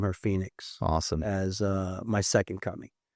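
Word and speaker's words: Fenix: Girl named Phoenix. Okay. F-E-N-I-X. So my wife's Brazilian, so it's spelled Portuguese way.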